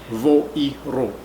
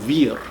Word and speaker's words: vir: which I heard - Vir (pronounced like Wir) - was pronounced using another pronunciation.